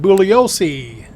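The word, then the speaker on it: Bugliosi: First stop is Vincent Bulliosce. The G is silent.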